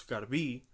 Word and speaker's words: Garbí: a tourist car be I guess the correct pronunciation is da luz Garvey with Ana Spanish accent Oh legs and all